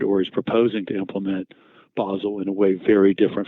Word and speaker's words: Basel: has implemented or is proposing to implement Basel in a way very different from the other major jurisdictions.